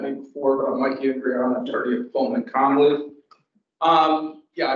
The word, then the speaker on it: Andriana: So for that, we have Mike Andriana. Is that how you pronounce it?